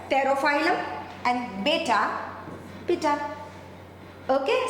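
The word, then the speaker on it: Pterophyllum: तेरा बेटा में 13 पी साइलेंट है तेरो फाइलम एंड बेटा पिटा ओके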